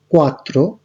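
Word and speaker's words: quattro: 1 হচ্ছে উনো, 2 এর জন্য উচ্চারণটা হবে দুয়ে, 3 এর ত্রে, 4 এর কোয়াত্রো, 5 এর ক্ষেত্রে চিনকুয়ে, 6 এর ক্ষেত্রে সেই,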